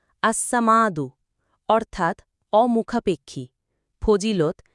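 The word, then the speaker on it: الصمد: 68 বাংলা উচ্চারণ আসসামাদু অর্থাৎ অমুখাপেক্ষী ফজিলত।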